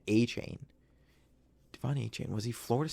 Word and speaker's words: Achane: The announcers on that game were pronouncing it A-Chain.